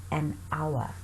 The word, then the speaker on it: hour: For example, the silent H. Here we have a word hour, so we say an hour.